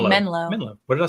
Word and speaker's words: Menlo: on a rocket Farm is it Manila Park no Menlo what did I say